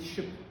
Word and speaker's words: шип: Это будет шип. Точно так же, как у нас есть слово жип, да? Веревка, жип. Мы спокойно произносим жип. Тогда почему мы не можем так же спокойно произносить шип?